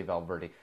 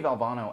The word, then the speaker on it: Valvano: Jimmy bell Jimmy valve I'm gonna make sure I'm pronounced all bono I always want to say Valverde Jimmy Valvano actually won a national